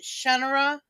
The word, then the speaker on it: Shannara: scenario of shanara The Sword of Shannara he pronounces it shenara but he didn't tell anybody that until after it got famous so it's too late Shannara everyone pronounced it series and he did the